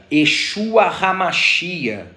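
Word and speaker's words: ישוע המשיח: É muito comum a gente ouvir uma expressão conjugada que se pronuncia Yeshua Hamashia.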